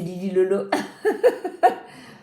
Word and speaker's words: Lily Lolo: Je crois c'est Olili, comment est-ce qu'on prononce ? Oili. Oh Lili, c'est pas au Lili, c'est Lili Lolo.